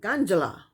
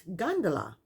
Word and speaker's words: gondola: how to pronounce gondola she pronounce it ganjala ganjala is what she kept saying it's gondala and she doesn't know how